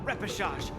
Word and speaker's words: repechage: I've decided to participate in the popularity revival repechage and return to the Wardance's stage. Repechage, that's how you pronounce That's that word.